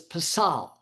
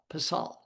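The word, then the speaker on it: פסל: and the Hebrew word that we have is pasal. If I was going to spell it for you, be P-E-S-A-L, pasal.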